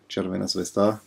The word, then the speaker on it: Crvena Zvezda: The odd thing is that this jersey here, so Red Star Belgrade, Crvena Zvezda, I hope I say it right, at least this is how you would say in Bulgarian.